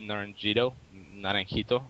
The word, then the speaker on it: Naranjito: And yeah, then I started playing a lot of 2v2 competitively with one of my friends from Peru, Naranjito is how you actually pronounce it.